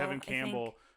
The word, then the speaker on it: Tevin Campbell: Tevin Campbell.